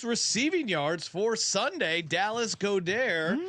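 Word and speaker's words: Goedert: yards for Sunday Dallas godair as CJ uh likes to pronounce the full French pronunciation Dallas goair 25 to one him getting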